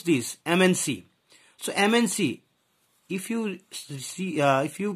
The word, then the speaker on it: MNC: Because here, if you pronounce this MNC, so MNC, if you see, if you pronounce this M, its pronunciation is like AMM.